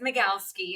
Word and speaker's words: Magalski: not even gonna try yeah it's magalski and people are always like what so I'm like Makowski what is Mom yeah